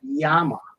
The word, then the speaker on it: llama: makes no sense what how come a llama is pronounced Yama I don't know because